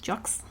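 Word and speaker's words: Jocz: was replaced by Steve, can't pronounce his name, J-O-C-Z, how would you say that? Jocks? Sure.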